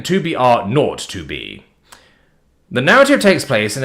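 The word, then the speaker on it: 2 B R 0 2 B: story 2B R o2b the zero is pronounced not okay then 2BR R not 2B The Narrative takes place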